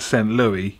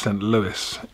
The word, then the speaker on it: Saint Louis: those of you screaming your screen saying it sent louie you're wrong because that's what i used to call it before i went there and it's actually pronounced saint louis in where is it i think it's illinois